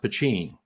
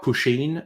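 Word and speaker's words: poteen: t i n uh either way it's pronounced pachin uh not quite pusheen abigail but close enough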